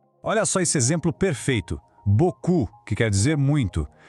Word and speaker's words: beaucoup: Beaucoup, que quer dizer muito. Tá vendo que termina com um P ali no final? Pois é, mas ele é completamente mudo. A pronúncia para no som do U. Beaucoup.